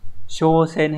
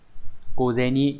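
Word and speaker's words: 小銭: trong trường hợp này nó sẽ không đọc là showen hay là cen mà nó sẽ đọc đặc biệt là ceni đúng không nhở ceni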